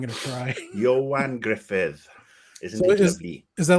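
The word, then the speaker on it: Ioan Gruffudd: Griffith Mr Fantastic himself that's how you say his name I had no idea I was like Joanna yeah I look at it I'm like no I'm not gonna cry Johan Griffith is that like a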